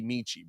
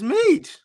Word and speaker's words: Metchie: Like I feel like, bro, his name is can't be Michi, bro. Metchie. Man, check this out. I'm about to get the pronunciation.